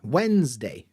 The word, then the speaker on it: Wednesday: look at the transcription you can see ah Wednesday Wednesday and cupboard if you look at it